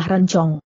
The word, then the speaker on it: rencong: jawab Ma hai hahaha pelafalan mu masih kurang bagus yang benar adalah Rencong tapi karena aku akan memberikannya